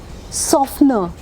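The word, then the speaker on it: softener: लेकिन जैसे ही एस ओ एफ टी के आगे कहानी चली जाती है ना टी साइलेंट हो जाता है।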